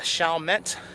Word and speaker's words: Chalmette: TV land where we visited the shet I mispronounced it earlier but the shet National cemetery and shet Battlefield Monument where the